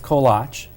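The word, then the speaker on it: koláč: So the singular, true Czech, the singular is kolach. Plural would be kolachki, correct? kolache. Kolache. And it's actually Willa Cather, our Nebraska author, who anglicized the word kolach and made it kolachi.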